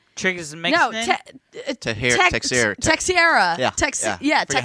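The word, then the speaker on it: Teixeira: Triggers and No, Texiera.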